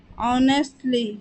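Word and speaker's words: honestly: मकसद ईमानदारी से ऑनेस्टली ऑनेस्टली यहां पर एच साइलेंट होता है और ओ से इसका प्रोनंसिएशन स्टार्ट करते हैं सेवा करना सर्व सर्व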